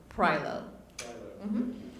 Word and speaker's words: Pyon: didn't butcher my name the last name is pronounced pyo M good afternoon and good morning um again let's see where I can put this my name is Pyon with USD R development